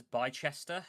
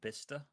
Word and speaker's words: Bicester: Um, so I used to read this as Bychester. Well, there's no H, so I shouldn't read it as Bychester. It's actually Bicester.